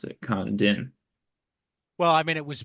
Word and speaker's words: Condon: And that's how you pronounce it. Kandin.